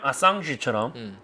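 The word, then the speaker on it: Assange: 자, 그다음에 전부 다 줄리안 아상지처럼 그러니까 한국에서는 줄리안 어산지 하는데 어센지. 아상지 프랑스 계열이니까 그쪽으로 또 발음해 줘야지.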